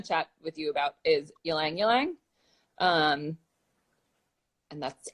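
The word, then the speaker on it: ylang-ylang: I want to chat with you about is Alang Alang um and that's how you pronounce it yelling yelling not I get I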